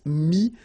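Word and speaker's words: mis: Mi, same advice here, don't pronounce the final S like we had here. T is not pronounced, S is not pronounced.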